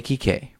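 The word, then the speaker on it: Kike: nickname popular in Mexico for people named Enrique pronounced TK like a reek a key k right but Sony confused the name for racial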